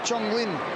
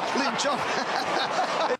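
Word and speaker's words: Lin Jong: Chopped off, though, by Chong Lin. That's not Chong Lin. He's the music director of Channel 9. Lin Chong.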